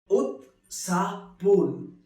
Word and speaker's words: उत्साहपूर्ण: उत्साहपूर्ण, which is pronounced as उत्साहपूर्ण, which means very excited, very lively.